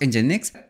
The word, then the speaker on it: Nginx: होता क्या है ओके हो तू प्रोनाउंस इंजनएक्स तो इंजनएक्स को बोला जाता है इंजन एक्स okay so this इस दी प्रनंसीएशन ऑफ इंजनएक्स तो पहले डेफिनेशन की